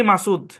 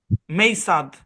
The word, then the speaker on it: মাসুদ: আমার নামকে আমি পড়ি মাসুদ। কেউ যদি কোনো আমেরিকান যদি এসে জোর করে এটার প্রনাউন্সিয়েশন রুল খাটায়, তাহলে এর উচ্চারণ কি হবে জানেন? মেইসাদ।